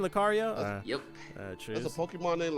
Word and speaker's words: Lucario: yeah Lucario was on bra that's how you pronounce his name Lucario yep that's a Pokemon named Lucario yeah he's